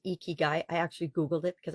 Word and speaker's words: ikigai: necessarily need them there's a Japanese process called eeky guy eeky guy i k i g a i and it's pronounced eeky guy I actually Googled it because I wasn't sure